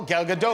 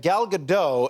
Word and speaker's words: Gal Gadot: is a special psa i learned how to pronounce her name by watching a clip of your show oh gal gadot that's right i said gal gadot and then i said is that right and